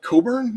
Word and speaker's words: Cockburn: quite the same as what is it coburn he's cockburn yeah um why do